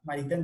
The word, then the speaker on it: Maritain: Ya vimos en el video que Maritain, esa es la, Maritain, mejor dicho, es que es la pronunciación correcta.